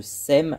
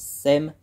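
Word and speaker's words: Sepmes: qu'elle s'appelle, qui passe par les villages de Sem. Alors, ça s'écrit Sepme, mais ça se prononce Sem.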